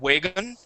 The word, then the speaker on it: wagon: So make sure you're starting off with an oo sound. Ooh, ah, and instead of way, and it didn't happen every time. There was once or twice where you had said wagon. Okay, but yeah, that is going to be an ah sound. Ooh, ah. So starting off with an oo instead of a V sound, we want to say ooh, agon, wagon.